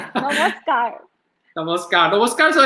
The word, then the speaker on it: namaskar: Did I pronounce it good? Very well, very well. Namaskar.